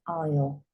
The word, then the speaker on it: aisle: you walk down an aisle could be the aisle of a church could be the aisle of an aane so it's SP with an a isn't that strange this is silent right hear this so